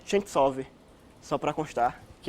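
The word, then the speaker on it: Ченцов: E a pronúncia do Sentov, na verdade, é Chentsov, só para constar, que é uma coisa interessante, né?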